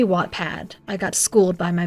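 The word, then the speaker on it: Wattpad: to say it and did I say whatpad or watpad it's supposed to be watpad I got schooled by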